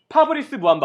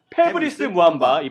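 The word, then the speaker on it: Fabrice Muamba: 답을 봤었는데 답이 뭐였죠 정답은 파브리스 무함마 혹은 패브릭스 무함마이 발음 차이기 때문에 모두 인정해 드립니다네 벌써 맞춰주셨습니다 어 그럼이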